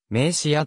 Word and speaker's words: 銘酒屋: た東京のした町では名刺アと発音する銘酒やと同様のし